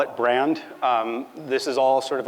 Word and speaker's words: BRXND: question a lot, which is, how do you pronounce this? It's not brand X. It's not BRXND. And it's not BRXND, which is like by far my least favorite of them. I just call it brand.